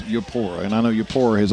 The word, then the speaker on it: Eupora: We are looking ahead next week as travel down the road to Yapora, or as Bob said a moment ago, as some people pronounce it Europa, but it is, for all intents and purposes, in Mississippi, it is Eupora.